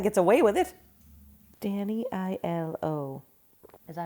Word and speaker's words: Aiello: Danny I-L-O. Is that how you spell it? I-L-O? Yep. It's like E-L-O, but with Danny.